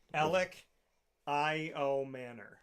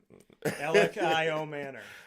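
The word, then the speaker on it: Elic Ayomanor: So Alec I.O. Manor. Is that the phonetically? Yeah. Alec from Stanford. Alec I.O. Manor. There we go. So I said it wrong every time. Alec I.O. Manor.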